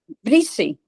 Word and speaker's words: Brises: as it was, and it's spelled, well, the way we had it was Brises, but they have it on the signs when you go BR. Breezy. Breezy. Yeah, breezy.